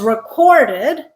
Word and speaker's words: record: Notice that as with conduct and conduct, when we stress the first syllable, conduct, record, it's a noun. When we stress the second syllable, conduct, record, it's a verb.